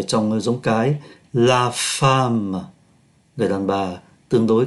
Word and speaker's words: femme: Thì bên nữ này, tức là giống cái, có la femme. Chúng ta để ý viết là O mà đọc là A, la femme là một người phụ nữ, la fille là cô gái.